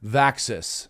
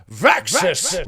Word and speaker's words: Vaxis: reviews you might know I don't just say vaxis no I have to say it like this vxus vxus vaxis and I